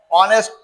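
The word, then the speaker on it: honest: এইচ ও এনই এসটি অনেস্ট এইচ এর কোন উচ্চারণ নাই বিধায় ও ভাওলের ভিতরে পরে এ আই ও ইউ এই পাঁচটা একটা অক্ষরকে আমরা জানি ভাওয়েল বলে।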